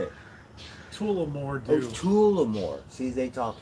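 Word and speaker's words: Tullamore: Tulamore dude.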